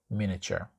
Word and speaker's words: miniature: time, you can say miniature. Now, the pronunciation of this word is a bit tricky. It's not miniature, it's miniature, miniature, miniature, miniature.